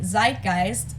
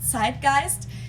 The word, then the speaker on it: Zeitgeist: some other languages too Americans usually say Zeitgeist in German we pronounce it Zeitgeist and this consists of